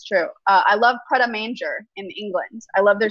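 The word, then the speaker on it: Prêt à Manger: It's pret a manger, not pret a manger.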